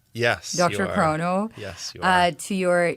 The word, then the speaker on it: DrChrono: You've had quite a journey with, am I pronouncing it right? DrChrono? Yes, DrChrono.